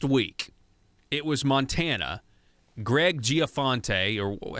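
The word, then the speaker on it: Gianforte: So last week, it was Montana, Greg Giaforte, or how do you say this guy's name?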